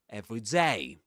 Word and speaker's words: every day: Because every day, in every day, the stress goes on day. We say every day.